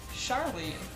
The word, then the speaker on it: Charlie: actually the spelling name charlie it's pronounced the portuguese way or brazilian way i should say oh